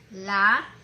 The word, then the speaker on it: lápiz: Entonces, lápiz lleva acento en la A, ¿no?